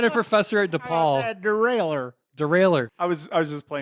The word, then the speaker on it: derailleur: So here's my reason why I would vote for Derailer versus saying Derailleur Derailer. versus saying Derailleur and spelling it the French way is because I had a professor at DePaul.